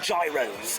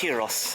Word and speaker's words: gyros: I always like to call them gyros, but I think they're pronounced gyros, I believe.